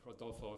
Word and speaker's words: Rodolfo: I think that, Rodolfo, if you don't mind that I call you by your first name, and I know that the R should be like an H, Rodolfo.